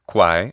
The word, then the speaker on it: quae: Other features, like the quae of classical Latin being pronounced que in ecclesiastical pronunciation, is fine because, as